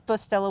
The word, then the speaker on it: Bustelo: It is Bustelo with a B. You're pronouncing it correct, by the way."